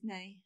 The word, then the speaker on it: Nai: And then Nay is Nay. Yeah, it's Naomi. It's Naomi, yeah.